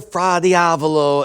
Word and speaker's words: fra diavolo: Lobster fra diavolo. Lobster fra diavolo.